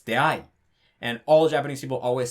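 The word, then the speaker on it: 出会い: Sometimes the dictionary is just straight up wrong. Like if you look up deai in the dictionary, it's going to say it like that. It's going to say that all the dictionaries say that deai is heiban, but in reality it's not. It's actually nakataka. It's deai.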